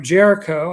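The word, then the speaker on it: Géricault: Jericho, I believe, is the correct way to pronounce it, more or less.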